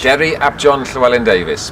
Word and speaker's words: Deri Llewellyn-Davies: is going to introduce himself because I cannot pronounce the surname. It's Welsh. Deri Llewellyn-Davies, but they call me the strategy man because no one can say the first bit.